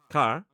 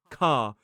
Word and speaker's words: car: I saying this correctly, car? I said, not quite. You need to open your mouth more and drop your tongue down and towards the back. So, she started to do car.